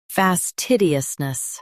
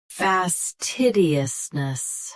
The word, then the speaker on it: fastidiousness: Today we will learn how to pronounce the word shown on the screen. Fastidiousness. Both US and UK have the same pronunciation of this word. Stress TID. Keep us soft and finish with nus clearly. Fastidiousness.